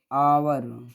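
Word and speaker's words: hour: अब ये H silent, इसको हम लोग पढ़ते क्या है, आवर। क्या पढ़ते हैं, आवर।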